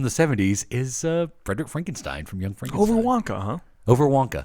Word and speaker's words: Frankenstein: Frankenstein. You're putting me on? No, it's pronounced Frankenstein.